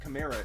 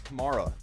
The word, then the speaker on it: Kamara: thing with alvin kamara so many people say smitty it's not kamera it's kamara actually no it's not it's both because his mother his mommy his mommy says kamara and he camara himself